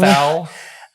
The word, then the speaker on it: Thal: He was born in born- Thal. German pronunciation, Thal.